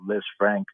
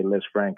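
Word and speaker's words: Lisfranc: in his case they've been talking more about LZ Frank or it's actually pronounced LZ Fran but people tend to say LZ Frank it's named after a a French surgeon that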